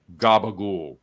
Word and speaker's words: capicola: that's what that's what in this area we call gab there are certain Italian Americans in some in Jersey a lot in Brooklyn that especially Staten Island and that pronounced capicola Gaba we don't know why